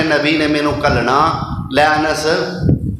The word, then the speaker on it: انس: تلفظ دی غلطی، اسی بعض دفعہ نام لینے تے انس کہنے، انس یعنی کہ نون دی جڑی زبر ہوندی ہے نا نون تے انہوں کھا جانے انس، لفظ انس، انس لفظ